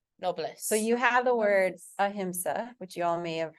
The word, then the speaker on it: ahimsa: So you have the word ahimsa, which you all may have heard, and if you're reading True Yoga, definitely, right? It's not ahimsa, it's ahimsa. And that means without harm.